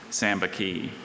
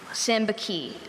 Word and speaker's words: sambaqui: Sambaqui. Sambaqui. S-A-M-B-A-Q-U-I.